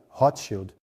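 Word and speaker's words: Rothschild: E escudo vermelho se pronuncia Hotshield. Em alemão, você vê William Booth tinha um investidor chamado Nathaniel Rotchild, que financiou o estabelecimento do exército da salvação.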